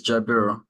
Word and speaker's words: Jaber: way first all right actually you're actually pronouncing it right so it's Jaber you just one to